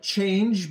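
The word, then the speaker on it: Chainge: connect your wallet to a DEX called change but it is spelled CH H AI NG g.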